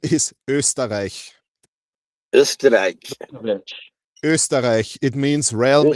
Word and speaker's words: Österreich: So first of all, if international stacker listens, no, it's not Osterich. It's definitely not Osterich because he always says Osterich. The correct pronunciation is Österreich.